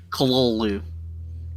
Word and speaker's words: Cthulhu: stick around to learn how we know that H.P. Lovecraft pronounced it Cthulhu.